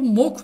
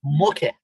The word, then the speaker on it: Moke: Ya bu Mok ne demek ya Sabri? Çok enteresan bir Adı isim. Çok enteresan. Ben hiç böyle isim görmedim. Mok değil, Moke.